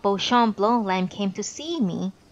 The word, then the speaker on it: Beauchamp: for something to happen he gets terribly upset if someone pronounces beauchamp as bisham odd state waiver house